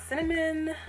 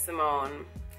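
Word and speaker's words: Cymmone: No, it's not cinnamon. It's not whatever else you think, it's Simone.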